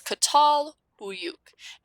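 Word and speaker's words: Çatalhöyük: you're reading text they'll typically give you a pronunciation guide okay so this one is katal huyuk okay it's founded in 7000 bc so remember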